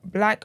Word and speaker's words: BLXCK: Just as a reminder, black over on this side of town is spelled BLXCK. Never an A.